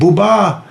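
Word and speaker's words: Édouard Boubat: Edward booba the great French photographer his name is spelled Bo you be 80 and booba people called him a peace correspondent not a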